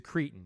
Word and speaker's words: Cretton: Dustin Daniel Cretton. Cretin. He's a cretin, you mean? Cretin. You pronounce it cretin.